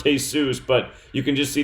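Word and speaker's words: Jesús: year old with the name Jesus of course pronounced hey-zeus but you can just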